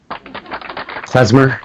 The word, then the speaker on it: Klezmer: Drifting So that's Casimir, huh? Am I saying that right? Klezmer. Klezmer. Spell that for me.